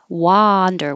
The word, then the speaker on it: wander: wander and wonder 19 wander with an ah means to walk around no Direction wander I'm just going to wander around for a while 20.